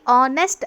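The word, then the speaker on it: honest: ಇಲ್ಲಿ ಆನೆಸ್ಟ್ ಅಂತ ಹೇಳುವಾಗ ಎಚ್ ಕಾನ್ಸೋನೆಂಟ್ ಆಗಿದ್ರೂ ಕೂಡ ಉಚ್ಚಾರದಲ್ಲಿ ಏನಾಗುತ್ತೆ, ಓ ಸೌಂಡ್ ಬರೋದ್ರಿಂದ ಇಲ್ಲಿ ಆ್ಯನನ್ನು ನಾವು ಬಳಕೆ ಮಾಡ್ತಾಯಿದ್ದೀವಿ. ನೆಕ್ಸ್ಟ್ ನೋಡೋಣ.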